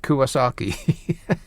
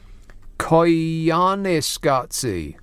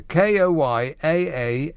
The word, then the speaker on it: Koyaanisqatsi: Something like Kuwasaki. Close. Koyaanisqatsi. I'll spell it for you. Koyaanisqatsi.